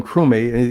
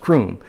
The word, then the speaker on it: Crumey: He said Sam started calling him Crumey, even though his name is pronounced Croom.